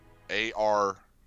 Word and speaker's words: Artrosis: there's six uh the last one is antrosis a-r-t-r-o-s-i-s wait or it's actually pronounced artrosis atrocious no why would i no